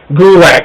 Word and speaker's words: Gulak: Gulak, I'm sorry. Gulak, it rhymes with attack, bro.